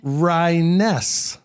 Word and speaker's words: Ryness: gar tell me your last name again ryaness Ryan s that's not that like Jones just more syllables just more syllables okayness also known as